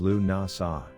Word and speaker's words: Lughnasadh: The pronunciation of Lughnasadh is Lughnasadh. Lammas's pronunciation is Lammis.